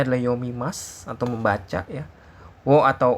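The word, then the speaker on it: を: Wo atau o nanti dibacanya wo atau o ya.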